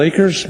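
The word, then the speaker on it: Akers: much thanks madam chair my name is acres last name is spelled a kers and i've been in this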